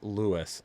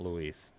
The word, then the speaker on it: Luis: But dang it, Luis Alvarado says it's Lewis, like Lewis, not Luis.